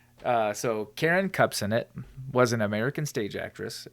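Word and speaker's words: Kupcinet: that this one's actually pretty interesting and it's cups in it that's how you say her name so Karen cups in it was an American stage actress and that's K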